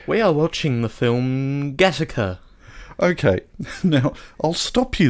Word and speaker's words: Gattaca: GATTACA's running time is 1 hour and 46 minutes. That's technically the same pronunciation, but with different stress.